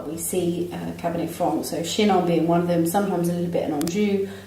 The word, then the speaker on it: Chinon: Bernard Baudry Chinon. Yeah. What? What? You said it right.